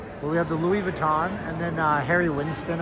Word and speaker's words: Louis Vuitton: The Louiswis Vitten. That's how they say it in the south. Hey honey, we done won the lottery. Get in the pickup. We're going down to Louis Vitten.